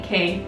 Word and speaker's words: Quay: I know the Quay ones, is that how you say it? Or Key? Key, yeah. Key.